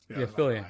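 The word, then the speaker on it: Fillion: is it fillian am I saying it wrong fillian yeah he's gonna because he's going to be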